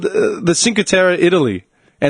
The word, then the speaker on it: Cinque Terre: Cinque Terre. It says how to pronounce the place.